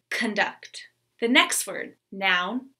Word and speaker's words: conduct: As a noun, conduct. Verb, conduct.